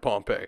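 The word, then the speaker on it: Pohnpei: the island of Pompei yeah I know it sounds like Pompei but it's spelled with an H now within the Federated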